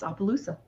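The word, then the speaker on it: Opelousas: Yeah, it's Opaloosa.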